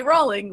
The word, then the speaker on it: Rowling: Rowling, which, incidentally, rhymes with bowling, about the pronunciation of Lord Voldemort, the blockbuster series creepy villain.